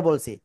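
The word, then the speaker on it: ب: ঠিক আছে, বলি। বলেন তো, বা অক্ষরটা কোন জায়গা থেকে উচ্চারণ করেছি আমরা? বা, বা, দুই ঠোঁটের ভিজা অংশ থেকে।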